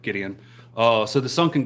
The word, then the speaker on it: Gideon: said that right Gideon I think that's correct Gideon Williams nice to meet you brother I'm welcome cheers happy Friday so the sunken grave um awesome I'm glad I pronounced your name right Gideon uh so the sunk and Grave yes there's